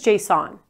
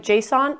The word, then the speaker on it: JSON: This is JSON. Here's a trick on how to pronounce it right. Just say, is the light JSON or off?